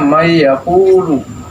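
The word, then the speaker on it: من يقول: Asalnya man dengan yaakulu. Karena nun ini nun mati ini menghadapi ya. Ya. Dibacanya may yaquulu.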